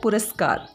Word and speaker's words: पुरस्कार: पुरस्कार, इसे भी हम गलत बोलते हैं और इसी वजह से इसमें लिखने में भी गलती हो जाती है। ये होता है पुरस्कार, र पे ऊ की मात्रा नहीं आएगी।